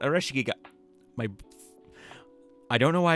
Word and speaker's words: Ares: more of her now Aral why did I pronounce it like that Ares my I don't know